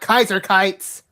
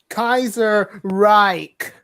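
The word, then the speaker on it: Kaiserreich: __ ] sakes guys kaiser right not kaiser kites well pronunciate then kaiser reich see you see where i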